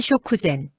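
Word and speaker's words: 食前: 한국어 식후랑 발음 거의 동일. 식전은 쇼쿠젠.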